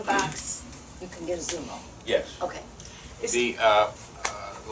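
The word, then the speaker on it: Xumo: another piece of equipment called Zumo Zumo spelled with a x with an x x u m o that apparently bends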